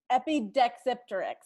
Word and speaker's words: Epidexipteryx: Epidexipteryx. Judges are going to give that to you. Good pronunciation.